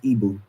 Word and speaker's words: ibex: This animal is called the Ebu. It's spelled Ibex, but it is pronounced Ebu.